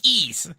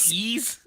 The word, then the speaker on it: Ys: It's Ease. It's not Yeez. No, it's not like Yeezy.